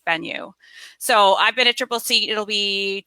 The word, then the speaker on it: Tripleseat: I'm the content marketing manager for a startup called Tripleseat. I always have to kind of explain the name a little bit. It's spelled like this, Tripleseat, like chair.